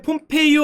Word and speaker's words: 폼페이오: 제가 옛날에 폼페이오 아저씨 얘기를 드렸는데 국무장관이죠. 그거를 폼페이라고 했다가 그 많이 혼났어요. 폼페이는 도시 이름이고 그 아저씨 이름은 폼페이오다.